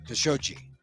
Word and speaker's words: Khashoggi: journalist Jamal khashoggi jamarcusoji let's say his name right khashoggi I mean we've had